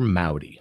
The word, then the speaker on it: Maute: my name is Mao D so the last name is spelled M a ute it's spelt like saute with an M but it's pronounced like howdy with an M so if you say